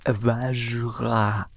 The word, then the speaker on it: Vajra: ouais, comme pas possible, c'est le Vajra. Alors, c'est assez dur à prononcer, ça se prononce Vajra. Voilà, on articule bien.